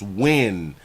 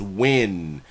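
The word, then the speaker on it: Nguyen: high already pimp so not um ngn is pronounced when oh okay so her last name is when that's how you pronounce it all right bam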